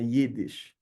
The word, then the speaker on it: Yiddish: Algumas delas valorizam ter duas letras, dois sons de I, que é assim que é na língua mesmo. Então é Yiddish, né? Tem uma ênfase aí nesse som.